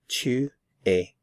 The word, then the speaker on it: tu es: to a 2A 2A notice I'm not pronouncing the consonant at the end of the verb here so simply to a 2 a you are